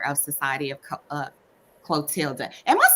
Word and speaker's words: Clotilda: is the leader of society of co uh clotilda am I saying that right y'all know I'm